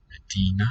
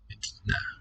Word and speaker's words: مدينة: Medina, city. سيارة. Sayyara. مدينة. Medina. سيارة. Listen to the different quality of the vowel, those final syllables.